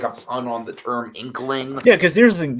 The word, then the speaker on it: Inqueling: I'm wrong about that is that the pronunciation inkling uh yeah I've always been saying it wrong but that's that's the thing it should be I think you're right I think it is inkling but like growing up